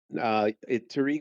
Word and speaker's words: Taariq: Taariq, most Americans say Taariq. My mommy tends to call me Taariq, but it's all good.